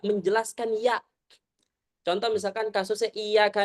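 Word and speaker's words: إِيَّاكَ: Contoh misalkan kasusnya iyaka na'budu iyaka harus jelaskan ya tasdid.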